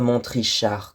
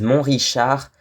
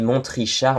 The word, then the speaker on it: Montrichard: autour de Montrichard et on prononce bien le T de Montrichard parce qu'il y en a beaucoup qui disent mon richichard mais en fait on dit montr richichard moi je l'ai toujours entendu comme ça en tout cas